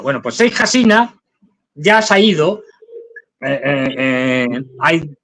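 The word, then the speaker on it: Sheikh Hasina: tengo aquí apuntado e Pues bueno eh mal pronunciado seik jina Bueno pues seik hasina ya se ha ido hay diferentes cuestiones no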